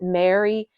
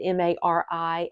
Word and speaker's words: Mari: LC Mari song or I might pronounce it Mary uh it was a girl I went to high school with that spelled it m a r i and her name was Mary so uh Mari song crossed with a